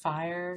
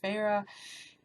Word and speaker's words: Feyre: Looking at it, I thought it was pronounced fire, so I probably could have gone through this whole book thinking like fire the whole time, even though her name is pronounced Feyre, because once I make